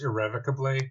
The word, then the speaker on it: irrevocably: It's pronounced irrevocably. If you're going to insult me, do it correctly.